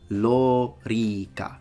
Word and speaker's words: lorica: a word this specific word in latin is lo rica so both the or and the e are